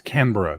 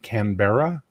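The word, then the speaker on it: Canberra: we not it's like the Australian thing with canra right apparently it's canra not canbera but if you say canbera they just think you're an idiot so there we go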